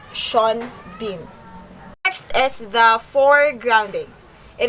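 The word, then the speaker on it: Sean Bean: the word at the spell name sin bin pronounced sean bin next is the foregrounding it is a concept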